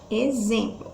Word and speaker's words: exemplo: forneiros vamos analisar a exemplo exemplo o x aí ele está com som de z então que ele só